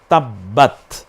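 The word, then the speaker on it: تبّت: তাহলে হয়ে প্রথম শব্দটা হয়ে গেল তাব্বাত। বলেন তাব্বাত। বাটা স্বাভাবিকভাবে আপনারা যখন উচ্চারণ করবেন তখন উপরের ঠোঁট নিচের ঠোঁটের পেটের অংশের দিকে চলে যায় বাটা।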